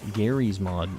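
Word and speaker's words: Garry's Mod: full of Rage um it's pronounced Gary's Mod not however you said it I do love me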